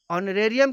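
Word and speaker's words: honorary: Next example है ऑनरेरी जॉब, तो इसमें भी एच साइलेंट है, तो इसका भी उच्चारण वोवेल साउंड की तरह हो रहा है, इसलिए ऑनरेरी जॉब के पहले एन आर्टिकल का प्रयोग किया गया है।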